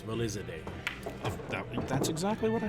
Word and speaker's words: Valizadeh: It's Valizadeh.